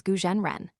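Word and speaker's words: 蛊真人: The Chinese name is Chinese letter, Chinese letter, Chinese letter, pronounced as Gujan Ren.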